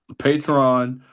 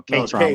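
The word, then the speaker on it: Kaytron: And I'm pulling Patron. Jerome. Okay, Patron. No, Katron with the K.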